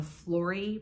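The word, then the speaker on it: Flori: then they have the Flory bag I assume that's how you pronounce it f-l-o-r-i which to me I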